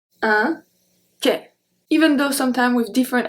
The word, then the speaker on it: quai: So we don't pronounce the U, we don't pronounce the D, and AN makes the sound en. Quand, quand. Second one, un quai, un quai, quai.